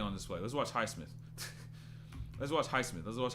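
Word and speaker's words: Highsmith: Or highmith, that's how you say his name, right?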